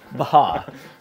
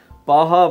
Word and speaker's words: Baja: Baja Blast Baja Blast Baja yeah you got put the emphasis on that first syllable there Baja Blast hard Seltzer on